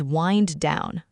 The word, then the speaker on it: wind down: The phrase is wind down. Wind down, like the wind blowing in the sky or winding a clock? It sounds like the weather, but we pronounce it wind, like winding a string.